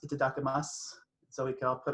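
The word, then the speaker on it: いただきます: something you say before you eat and it's pronounced itadakimasu so we can all put our hands in together and say itadakimasu the reading today is from henry noen in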